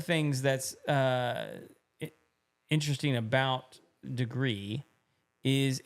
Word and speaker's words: Degrii: is the degree thermostat it's spelled D e g r i i right but it's degree and one of the